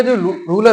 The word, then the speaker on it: tsar: Russia का जो ruler हुआ करता था, ये इंपॉर्टेंट पॉइंट है, रशिया का जो रूलर शासक हुआ करता था उसे हम जार बोलते थे, TSAR। स्पेलिंग क्या है, TSAR।